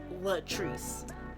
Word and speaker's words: Latrice: It's pronounced Latrice, spelled like Latin rice.